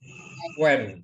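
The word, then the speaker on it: Punt: Sebenarnya bacanya adalah Tanah Puen, ya. Bukan Pun bacanya, tapi Puen.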